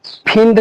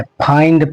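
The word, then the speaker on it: find: तो इसको फिड नहीं पढ़ना है। फाइंड पढ़ना है।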